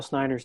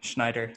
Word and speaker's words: Snyder: distracting what was that he also couldn't pronounce kyle snyder's name schneider yeah that was uh